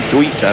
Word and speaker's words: Thweatt: Thweatt, Thweet, we call it.